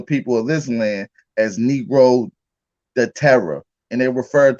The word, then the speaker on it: negro: first first of all that's that's pronounced negro and it's portuguese right and it means